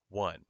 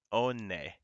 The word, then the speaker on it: one: all right watch this this word is pronounced how one what if you sound it out onne this word is pronounced